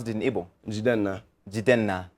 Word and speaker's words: Jidenna: How do you pronounce it in Ebu? Jena.